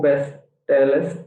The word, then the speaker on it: bestellst: Du bestellst. Sir, pronounce it. Yeah, bestellst. No extra e.